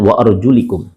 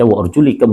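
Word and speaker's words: وَأَرْجُلِكُمْ: di situ ada ayat, penggalan ayat mengatakan wa arjulakum dan wa arjulikum. Kalau kemudian kita membaca sebagaimana bacaan jumhur wa arjulakum, dan ada juga yang membaca wa arjulikum, dua qiraat ini ya secara bacaan ya dia bisa dibaca dengan dua, wa arjulakum dan arjulikum.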